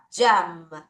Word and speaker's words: jam: 자, 요거는 정말 정확하게 철자대로 발음합니다. M 발음까지 끝까지 가세요. jam. 다시 jam. 잼 하지 말고 M 발음까지 가세요.